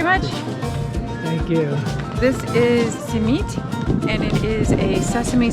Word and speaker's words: simit: How do you pronounce this? Simit.